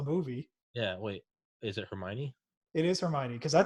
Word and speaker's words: Hermione: Rowling is an incredible writer, but that didn't stop me from mispronouncing Hermione for, I don't know, until I saw the movie. Yeah, wait. Is it Hermione?